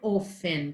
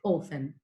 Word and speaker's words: often: Essa palavra eu falo often. Tem o T aqui, mas a pronúncia é often.